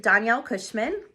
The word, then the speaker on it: Danielle Cushman: My name is pronounced Danielle Cushman.